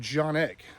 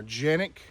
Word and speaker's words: Canik: And he said they're actually called Janek or Janik. That's how they pronounce it in their country. So, look what we have. We have got the Canik Meta 9 mm.